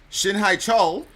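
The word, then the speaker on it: 신해철: How do you pronounce it? Shin HaeChul.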